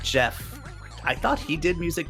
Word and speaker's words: Geoff: not positive yeah well he also spells it g-e-o-f-f which I always pronounce Jeff but I'm not sure if that's correct is it Geoff no it's Jeff I'm pretty sure it's not Joff well I don't know